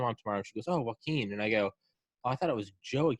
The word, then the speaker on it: Joaquin: is it is it it's joaquin you know like joaquin phoenix yes oh yeah okay